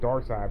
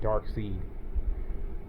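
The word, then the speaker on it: Darkseid: call him his name's dark side but it's spelled like dark seed like a seed like in the plant dark seed but it's supposed to be dark side show this one too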